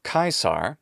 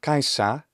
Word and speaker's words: Caesar: it's not the same so already now we have kaisa and then finally perhaps the most obvious part is my native pronunciation of english general american and rp don't have the ra sound so it's not going to be kaisar but it'll be kaisa if it's british or kaisar if it's american or whatever variations